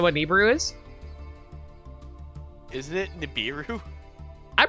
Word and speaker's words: Nibiru: dark magician hold a sec neberu yeah it's pronounced neberu Neu you don't know what Neu is isn't it Nibiru I pronounce it neiru but I I guess niburu is also valid too yeah I I I